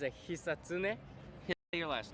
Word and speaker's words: Hisatsune: No syllable emphasis, according to my friend who speaks Japanese. Basically say it fast and boring.